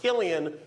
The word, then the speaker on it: Cillian Murphy: Interesting fact about his name, it's pronounced Killian when he does drama. When he does comedy, it's Cillian.